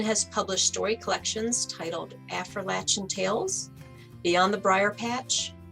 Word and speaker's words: Appalachian: thank you carla and thank you for saying appalachian correctly i can tell that you know how the word is pronounced just like appalachian i was born into a storytelling family and